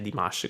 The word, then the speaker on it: Dimash: del nome per esempio di dimas che ho sempre detto dimas invece è di mash grazie grazie a tutti